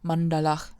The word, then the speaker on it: maṇḍalaḥ: So, for example, if I have the word maṇḍalaḥ, which means circle, in English it's usually pronounced maṇḍala, but let me tell you that's wrong, then I could theoretically